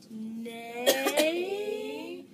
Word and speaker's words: neighbors: Because just like the E was silent, the H is silent in it too, and so is the G. So, neighbors.